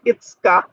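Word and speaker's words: 五日: এখানে আবার সুটা বড় করে আছে, তাহলে এটার এখানে পরিপূর্ণ উচ্চারণ হবে ই, আর এখানে আছে সু, এখানে কা, ইটসকা, ইটসকা মানে 5 তারিখ।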